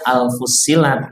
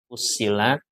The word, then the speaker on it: Fussilat: Ada yang baca Al-Fussilat. Nah itu maksud saya tuh. Saya ingin memastikan bacanya jangan salah. Fussilat.